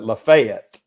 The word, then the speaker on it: Lafayette: uh was it Lafayette we call it Lafayette f it f we we emphasize the Fay and the atlas is just a UT listen I'm in I'm